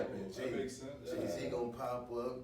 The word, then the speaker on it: 7AE: His name is Jay, but it's spelled with a 7, so 7AE.